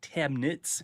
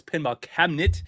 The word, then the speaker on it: Pinball Cabinet: If you don't know pinball cabinet, not cabinets because I keep saying it wrong. You call me up, you're saying it wrong, but no, it's pinball cabinet.